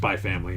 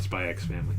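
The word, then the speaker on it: Spy × Family: first time somebody on whether you uh pronounce the x or not and i guess you don't it's just by family not spy x family yeah uh yeah i'm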